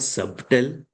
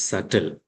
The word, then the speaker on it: subtle: It's not subtle, it is subtle.